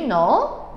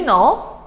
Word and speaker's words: know: 그래서 제임스가 베티야, do you know? 자, no에다 동그라미 칠게요. no. 여기는 k 발음이 안 돼. no는 k 발음이 안 돼.